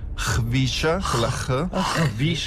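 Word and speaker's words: Khvicha: Anche se l'esatta pronuncia che io ho trovato sarebbe Hvisha, Kvaratskhelia.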